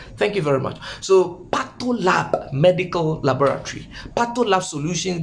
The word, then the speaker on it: PathoLab: being done potluck uh is it pattolap yes it's the name is patola patting i wasn't pronouncing it well so i've got it right thank you very much so pato lab medical laboratory pato love